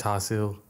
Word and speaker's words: char siu: in Chinese, it's pronounced char siu, which is literally, like, one of my favourites.